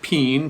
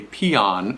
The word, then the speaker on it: Pean: we usually pronounce this peen p-e-a-n that's how it's spelled sort of like a bean like a can of beans okay this is a